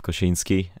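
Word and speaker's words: Kosinski: is allegedly called Apex that's recorded by Joseph koshinski and um I'm one of the few people that can actually pronounce his name properly uh enough of being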